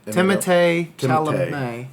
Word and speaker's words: Timothée Chalamet: Timothée Chalamet.